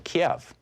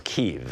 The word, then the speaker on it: Kyiv: Ambassador Sondland called President Trump and told him of his meetings in Kiev, or Kyiv, as apparently they pronounce it in Ukraine.